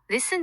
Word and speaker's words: listen: 예를 들어 listen 듣다에서 T는 묵음이고 doubt, 의심하다에서 B는 묵음이죠.